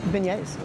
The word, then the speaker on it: beignet: Beignet.